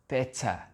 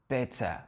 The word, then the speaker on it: better: Ça va être, les Anglais, ce sera better, better. C'est un sort de E, où le R, on ne l'entend pas.